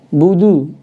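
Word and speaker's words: نعبد: Kemudian domahnya budu ya, bukan bodoh ya. Budu jelaskan.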